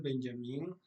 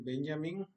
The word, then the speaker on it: Benjamin: Eh, quería platicar sobre un libro de Walter Benjamín o Walter Benjamin, eh, como prefieren pronunciarlo.